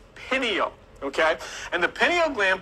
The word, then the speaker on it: pineal: of your brain called the pineal gland it's pronounced pineal okay and the pineal gland produces melatonin when